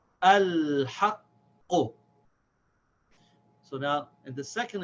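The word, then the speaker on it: الْحَقُّ: It's the first letter, so we pronounce it. We say al.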